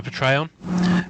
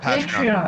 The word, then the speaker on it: Patreon: do you have a port trayon where you oh patreon I'm sorry yes yes so yeah yeah because of the e in there I read it as Patron but I might be